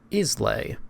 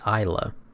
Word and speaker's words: Islay: This word here is pronounced Isl, but the locals call it Isa.